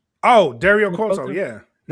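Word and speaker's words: Cueto: Oh, Dario Quoto.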